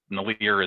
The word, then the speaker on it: Nilear: So really, and it's pronounced Nilear is clear.